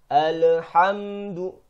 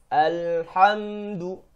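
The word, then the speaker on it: الحمد: Kebanyakan orang banyak kesalahan fatal ketika membaca lam sukun di sini. Mereka memantulkan bunyi lam sukun tersebut. Saya contohkan alhamdu. Padahal di sini lam sukun bukan termasuk huruf yang dipantul. Yang benar alhamdu.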